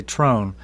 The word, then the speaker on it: Tron: a strange last name and uh we always pronounced it it don't matter how you say it tron's good but they always told us to say trone and so we wondered about that because it